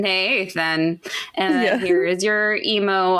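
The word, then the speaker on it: Neithan: So my husband's name is Nathan, but they spell it really weird. It's like Nathan.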